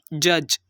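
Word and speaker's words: judge: इसकी प्रनंसीएशन हम करेंगे जज और यहां पर भी दी को साइलेंट कर देंगे फोर्थ एग्जांपल है रिच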